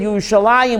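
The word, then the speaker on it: ירושלים: So we pronounce it Yerushalayim with a Yud, even though there's no Yud there, because we believe in what?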